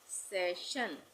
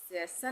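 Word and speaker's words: session: उसी तरह से सेशन, सेशन नहीं बोलेंगे, सेशन।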